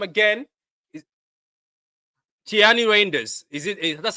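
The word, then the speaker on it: Tijjani Reijnders: So, how do we pronounce his name again? Is Tiani Rainders?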